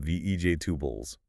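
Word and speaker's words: vegetables: Vej exactly heavy stress on vej and the rest just gets compressed like I need to buy some vej tubless. Ah right. Hear that? Vej tubles. The plural sound is there but the main word is still reduced.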